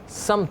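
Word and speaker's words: سمت: तो वालिद साहब ने फरमाया सिमथ नहीं होता समत होता है जिस समत देखता हूं तो इस तरह प्रोनाउंसिएशन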